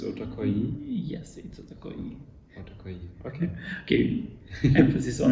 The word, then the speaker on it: OTAKOYI: could you repeat uh in Ukrainian we say otakoi yeah could you repeat yes okay almost there